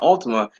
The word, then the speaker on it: Altima: gyro sorry with the ultimate like everybody pronounces the nissan altima it's not ultimate altina that's what the name of the car is is called the nissan altima you see that's how it's spelled but everybody calls it